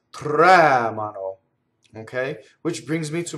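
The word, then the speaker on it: tremano: case they tremble right they always has the accent in an in the on the first syllable raise the anti penultimate syllable the normal stress in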